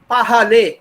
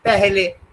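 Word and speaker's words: पहले: I'm talking of Pahale. This is what I South Indian will read it, but Hindi guys pronounce it Pehle, although it seems to be written as Pahale.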